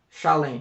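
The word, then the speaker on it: שָׁלֵם: Salém, né? Shalem, né? Na pronúncia.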